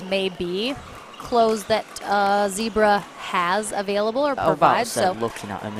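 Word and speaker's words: Zcebra: using for their paddles it's called zebra but it's spelled z c e b r a it's a spanish brand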